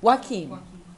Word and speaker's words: Joaquin: We've got down in the San Joaquin, how do you pronounce it? Joaquin? Joaquin.